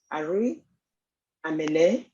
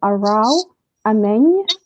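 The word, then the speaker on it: Arao Ameny: my name is uh the correct pronunciation of my name is arau amen my my poem is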